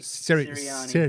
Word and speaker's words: Sirianni: Sirianni.